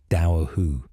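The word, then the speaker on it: Dobhar-chú: The Dobhar Chu, pronounced roughly Dowahu, combines otter and dog features.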